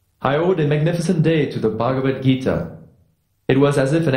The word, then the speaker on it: Bhagavad Gita: that that name right your attempt at pronouncing the sanskrit language was noble it's bhagavad gita why don't you try